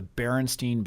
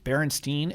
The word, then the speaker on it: Berenstain: do you remember the Berenstein bears I think that it's Berenstein it's kind of spelled like Berenstain Bear the better and stay